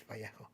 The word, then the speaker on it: Vallejo: of days ago, and asked them how to pronounce their name, and they said it's Vallejo.